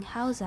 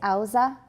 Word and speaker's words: Hausa: And by the way, some say Auza. I had a Nigerian housemate at Princeton, and he said Auza. And I asked somebody else, and he said they're both pronunciations. I guess they're different Minzu have different pronunciations. So Hausa, Auza are both okay.